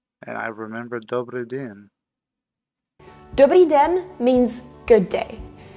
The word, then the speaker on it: dobrý den: Dobrý den means good day. The way to pronounce it is dobrý den.